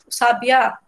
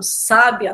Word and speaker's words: sábia: Sabiá. Aliás, sabiá não, sábia, né?